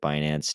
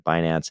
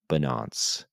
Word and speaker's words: Binance: this three-year investigation into binance and also because Yellen kept pronouncing binance as bonance yes Janet Yellen thinks binance is called bonance the funniest part is